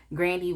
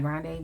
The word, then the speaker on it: Grande: cry you know and the reason why I said Ariana Grandy is because I heard that that's how you say her name it's not grande but whatever to each